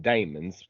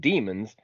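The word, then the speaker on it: daemons: are referred to as I call them Damons d a e right but the pronounced demons but so probably bager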